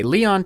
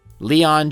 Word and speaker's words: Leon: Anyway, Leon Czolgosz lost his job at a steel mill during an economic depression known as the Panic of 1893.